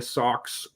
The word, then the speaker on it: Sox: And then in the final day, the Sox, as we pronounce it in New England, S-A-W-X, the Sox got in with a win in D.C.